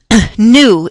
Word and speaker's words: nu: a Greek symbol it's an N Nu you new is how you pronounce that it's more or less a squiggly